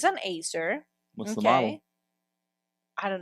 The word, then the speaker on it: Acer: Acer.